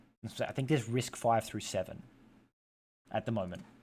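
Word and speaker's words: RISC-V: V would be risk five so as you risk five processor and then you have risk six it's pronounced risk five as an open source citizens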